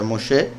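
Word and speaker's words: משה: pero es como sustantivo se pronuncia moshé el que fue sacado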